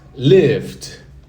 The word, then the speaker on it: lived: No simple past, lived. Lived. É como se fosse um D.